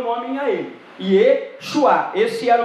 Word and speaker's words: Yeshua: Ao descer o povo à Babilônia, caiu-se alguma letra e a pronúncia tornou-se Yeshua, através de alguma influência do aramaico.